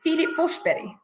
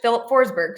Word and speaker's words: Filip Forsberg: it philli or Philipe it's in Swedish the pronunciation is Philip fber but in English Philip forsberg so he goes by Philip